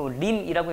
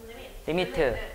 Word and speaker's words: lim: 그 림이라고 읽는 게 아니고 리미트 이렇게 읽고. 뭐라고 읽는다고? 리미트.